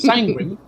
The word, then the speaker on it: Sanguine: Sanguine rhymes with penguin. Penguin Magman. So it's sanguine, and then You are the business goose.